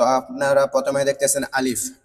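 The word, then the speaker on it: ألف: আলিফ উচ্চারণ করার সময় এইযে সামনের যে দুইটা দাঁত আছে উপরের সামনের দুইটা দাঁত নিচের টোটের পেটের মধ্যে লাগায় দিবেন। লাগানোর সময় একটু বাতাস বের হবে তাহলে কি হয়ে যাবে? আলিফ উচ্চারণ হয়ে যাবে।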